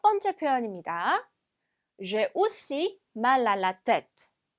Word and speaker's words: mal à la tête: 그래서 이 부분이 mal à la tête 이렇게 따로따로 읽는 것이 아니라 자, 이 부분을 마치 한 단어인 것처럼 mal à la tête라고 읽어주셔야 돼요.